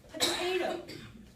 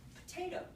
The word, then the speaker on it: potato: are they deleting yes the unaccented syllable potato there because if you listen to the word potato it's all it's so quiet you can i don't even have to say the whole vowel potato i can whisper the